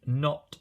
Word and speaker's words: knot: So not, as in I am not doing that, is spelt without the K. And here a knot, as in something which is tied into a knot, has got that sound at the beginning.